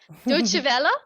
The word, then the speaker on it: Deutsche Welle: ABC Radio National, The Saturday Paper, forgive my mispronunciation, but it must be Deutsche Welle. Deutsche Welle, thank you.